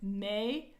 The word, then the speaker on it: mi: major key it's me m i equals me m e equals may